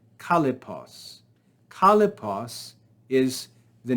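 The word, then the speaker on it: Kallippos: Kalipos, 3 syllables, is a name for a single idea.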